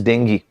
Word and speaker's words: dengue: of people diagnosed with dengue fever actually the pronunciation of this word is not dangerous is dengue but if i say dengue you will feel